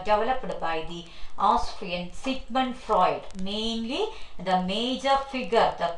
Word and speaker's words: Freud: freud please knock down the spelling that for eud freud sigmund freud is the pronunciation uh his life span